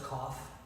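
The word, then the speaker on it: Koph: Silus Cough.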